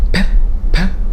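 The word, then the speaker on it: پ: you'll find for example the sound pep like pepsi it does not come immediately in arabic so sometimes some people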